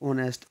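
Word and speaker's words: honest: H silent होता है, इसमें ओ की आवाज़ आती है। ठीक है, तो ऑनेस्ट, एन ऑनेस्ट। समझ गए होने आप?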